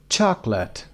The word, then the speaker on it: chocolate: syllables pronunciation number one chocolate two syllables chocolate the first syllable is stressed number two dessert dessert